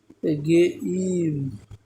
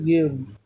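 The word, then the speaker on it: game: বলি আমরা গেম খেলতেছি না খেলে গেম হবে গেইম গেইম এই গেইম নট গেম নট কয় এটা হচ্ছে গেই মাম কে এই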